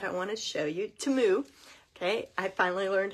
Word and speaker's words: Temu: from teu that I want to show you timu okay I finally learned how to pronounce it so I'm going to unwrap the